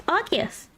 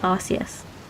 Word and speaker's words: Arceus: How do you pronounce Arceus? Arceus. Arceus. Not like Arceus.